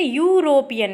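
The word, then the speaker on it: European: यहाँ पर देखिए यूरोपियन, इसकी स्पेलिंग भले ई से है बट जब हम इसको हिंदी में पढ़ेंगे तो क्या होगा, यू, या से शुरू हो रहा है ना, इसलिए या स्वर तो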